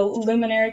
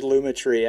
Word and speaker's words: Lumetri: easy i do the luminary color am i saying that right luminary lumetri lumetri lumetri i think it's luma tree i i said it